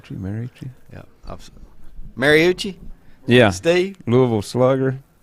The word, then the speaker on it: Marucci: Marucci M m-a-r-u-c-c-i married to you yeah absolutely Mariucci yeah Steve Louisville Slugger it's pronounced morusi it's probably got the H sound with double